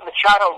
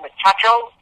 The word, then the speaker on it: Machado: He pronounced his name Royce. He made Rod Machado Rod Machacho.